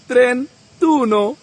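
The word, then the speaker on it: trentuno: যেমন 21 21 কে আমরা বলব ভেনতুনো 31 ত্রেতুন 41 কোয়ারানতুন 51 চিনকয়ানতুন 61 সেসানতুন 71 সেতান্তুন 81 অত্যান্তন 91 নবান তুন ঠিক একইভাবে যদি বলি 28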